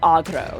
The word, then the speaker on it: Agro: honestly hilarious yeah but her real name is Agro so uh a g r o with a